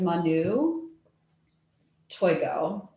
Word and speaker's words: Manu Toigo: do um so uh my her name is manu toygo okay so i'm just gonna call her very